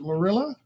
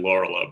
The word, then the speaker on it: Lorela: Is it Lorilla? Close enough, Your Honor. It's actually Lorela, but everyone gets it wrong. Lorilla. Doesn't rhyme with gorilla.